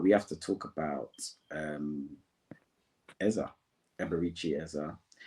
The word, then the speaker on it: Eze: However, we can talk about the game, but we have to talk about Eza, Eberici Eza. Eze to some people, but let's pronounce it as it's supposed to be pronounced.